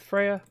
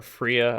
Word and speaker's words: Freya: was in love with Freya or Fria I guess it's how you pronounce it this is how I pronounce it I also think it's Freya let's be wary of